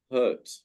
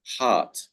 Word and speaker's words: heart: So hurt is not the correct word pronunciation for this word, but it is heart.